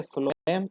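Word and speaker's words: phloem: तो यार समझा करो, बोलते तो ये हो, एफ ही बोलते हो ना, प्रोनाउंसिएशन तो एफ से ही होता है ना। इसलिए फ्लोएम और फूड ऐसे याद रखना।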